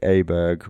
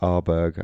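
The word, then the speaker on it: Åberg: And those six qualified autos and then the picks were Shane Lowry, Seb Straker, Ludvik Aberg or Arberg I think it's pronounced in Swedish, Victor Hovland, Matt Fitzpatrick and John Ram.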